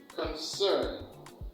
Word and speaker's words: concern: So, it's only concern that is stressed on the second.